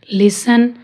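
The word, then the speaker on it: listen: Watch, विच, match, scratch, फासन, लिसन। अब देखो ये पैटर्न बन रहा है टी ई एन, टी एन, तो इसमें भी टी साइलेंट है।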